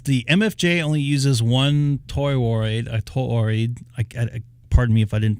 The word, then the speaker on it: toroid: Says the MFJ only uses one toroid. Pardon me if I didn't pronounce that right.